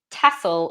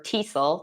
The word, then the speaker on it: TESOL: a foreign language and tassel or tesol it's pronounced different ways is teaching English to